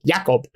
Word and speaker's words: Jakob: Who's, I say it like that because I'm pretty sure that's how exclusively it is said in the movie, like Jakob.